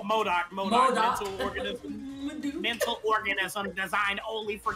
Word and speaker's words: MODOK: Madook, how do I pronounce that? Is it just Madook? Oh, Modok.